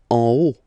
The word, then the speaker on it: en haut: En haut. En haut. Okay, final T not pronounced, and then this H as previously, you don't pronounce it, so this is haut.